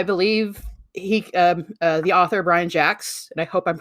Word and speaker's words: Jacques: right because he's got i always for a while when i was younger i thought it was always jacuzz because jocks because there's a q in there and english and we is